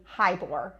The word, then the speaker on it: Heyboer: It's actually Heyboer, and so it's Okay. like saying hi to a boar, and Okay. then you'll never forget it.